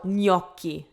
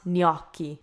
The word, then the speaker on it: gnocchi: So gnocchi, not gnocchi.